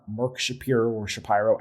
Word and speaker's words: Shapiro: He is not Mark Shapiro or Shapiro. I got to figure out how to say his name properly. Shapiro. It's Shapiro. Yep.